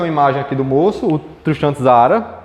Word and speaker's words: Tristan Tzara: principal criador tem uma imagem aqui do moço tristan tzara é a pronúncia tá bom sobre características do dadaísmo quais